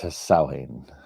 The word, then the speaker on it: Samhain: Um, it is written Samhain, but pronounced Samhain. And I'm probably still saying it wrong.